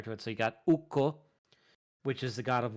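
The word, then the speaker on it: Ukko: the thing also like in Finnish language is that a double consonant is pronounced like it's hyphenated so so even if you see 2ks you're not going to be like oh uko it's no it's it's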